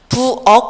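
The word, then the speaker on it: 부엌: 부억 같은 경우도 음절의 끝소리 규칙에 의해서이 키역이 부억으로 읽혀지고요.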